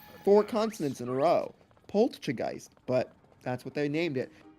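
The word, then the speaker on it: Poltchageist: There's a T in there. Pchegeist. It's not polgeist. Yeah, like poltergeist plus chai tea.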